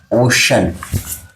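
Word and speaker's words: ocean: इसके अलावा next word लेते हैं हम CEAN। इसको भी हम क्या पढ़ते हैं? सन पढ़ते हैं। एग्जाम्पल हो गया ओशन।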